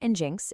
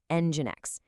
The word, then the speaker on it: Nginx: It is not enjinks, it's pronounced Nginx. It's actually a really clever play by its Russian developer on creating a high-performance engine for the web.